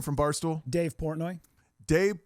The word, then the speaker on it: Portnoy: He should spell it P-O-R-T-N-O-Y. That's how he spells it. Because that's how it sounds.